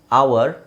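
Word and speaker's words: hour: ನಾನು ನಿಮಗೆ word ಕೊಟ್ಟಿದೀನಿ ಅವರ್ H silent ಆಗಿರುತ್ತೆ ಒನ್ ಅವರ್ ಟು ಅವರ್ಸ್ three ಅವರ್ಸ್ ಒಂದು ಹವರ್ ಅಲ್ಲಿ ಬರ್ತೀನಿ ಯಾರು ಹವರ್ ಅಂತ ಹೇಳಲ್ಲ ಅವ ಓಕೆ ಸೊ ಅವ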